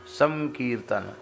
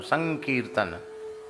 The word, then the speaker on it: संकीर्तन: बन गया संकीर्तन संकीर्तन अनुस्वार का उच्चारण जो है परवर्ती वर्ण के अनुसार होता है तो क है ना तो क वर्ग का अनुनासिक वर्ण क्या है? ग क ख ग घ के जैसा उच्चारण संकीर्तन संकीर्तन कीर्तन तो